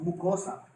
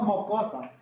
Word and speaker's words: mucosa: Le decimos mucosa. ¿Ah? No mocosa. Le decimos mucosa. ¿Ah? Por alguna vez también que tengas diferencia de habla, ¿no? Y eso, pero pronuncia bien, ¿no? Es mucosa.